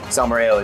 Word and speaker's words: salmorejo: So salmorejo, did I say it correctly? Salmorejo, yes.